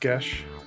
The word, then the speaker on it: Geis: Alexis Deacon's Euro comic come tournament manga it's pronounced GES yeah oh God I was just about jump